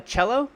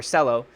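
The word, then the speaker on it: Celo: percent we have uh cello I believe is how you say that or Sello it's up 14.51 that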